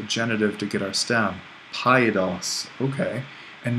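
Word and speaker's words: παιδός: Paidos. Okay. And note the accent here is actually on the last syllable.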